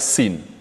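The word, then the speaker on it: سين: Sin, la lettre sin se prononce exactement comme une province du Sénégal. Sin, Sin Saloum. Sin.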